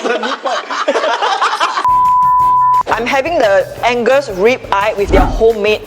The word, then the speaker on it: Angus: I can never pronounce Angus beef. Angus rib eye properly. Seriously, I always say Agnes, you know. Agnes beef. Yeah.